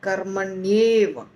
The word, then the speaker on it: कर्मण्येव: कर्मणि और एव बन जाता है कर्मण्येव, कर्मणि और एव बन जाता है कर्मण्येव। और उसके बाद अधिकार का अ व के साथ जुड़ जाता है तो बन जाता है कर्मण्येवा, कर्मण्येवा।